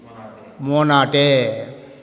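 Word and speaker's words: Mai: మేన్ వచ్చేసి జర్మనీలో మై అంటారు. There మై, there మై, there మై.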